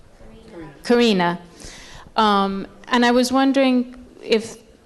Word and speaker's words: Karina: How do you pronounce her name? Karina.